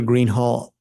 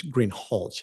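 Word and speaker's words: Greenhalgh: you your honor officer Greenhall I believe I mispronounced your name it's green hch isn't it correct okay I apologize will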